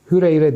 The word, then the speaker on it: Hureyre: birisi Ebu Hureyre'den gelir hüreyre diyelim Evet doğru telaffuz edelim biri Ebu Hureyre'den gelir